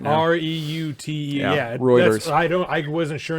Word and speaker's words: Reuters: tax credits for production routers reported routers routers reuters reuters thank you i'm pulling a road are you pulling a ross right now r-e-u-t-e yeah reuters i don't i wasn't sure until i heard